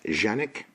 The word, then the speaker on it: Canik: the front it is the Kanak properly pronounced genic this is the case